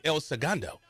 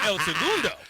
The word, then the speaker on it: El Segundo: I would say like El Segundo. So what's the correct way to say it? Segundo. So I should be saying El Segundo.